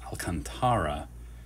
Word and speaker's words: Alcantara: bunch of inserts and there it is sandy alcantara is how i'm told to pronounce this unlike the recent sandy alcantara or the alcantras of baseball this is apparently pronounced alcantara certainly on track to win the cy young